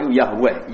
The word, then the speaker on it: Yahweh: Wong Yahudi nyembah itu tulisan kapital Yahweh, Z dengan huruf kapital, A dengan huruf kapital,